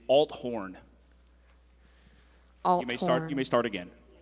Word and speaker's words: Althorn: Let me correct you. It is Althorn.